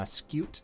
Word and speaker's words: Scute: pronouncing that right uh scute there's kind of like a silent y in there i'm pretty sure that's how you pronounce like things with or